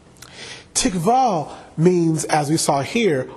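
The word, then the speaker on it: tikvah: ian in the hebrew is tick vol it is spelled for your notes TI q VA h TI q VA h tikva tikva means as you saw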